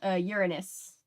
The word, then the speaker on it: Uranus: Uranus is how they pronounce their name, and yes.